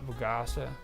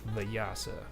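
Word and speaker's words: Vyasa: uh it was the Vasa in India um they mentioned that after we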